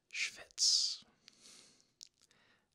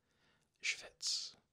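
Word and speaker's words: shvitz: Schwitz. S-H-V-I-T-Z. Schwitz.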